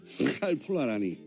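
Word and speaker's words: Karl Polanyi: 이건 너무 리을이 많아요 칼폴라니 폴라라 아니라 라니라 원래 영어 잘하잖아요 외신들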